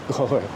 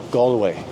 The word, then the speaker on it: Galway: pronunciation of gway is goway some people just tend to just put too much a into the the first vowel to think of the word all Hall brawl crawl doll so G gallway and some people say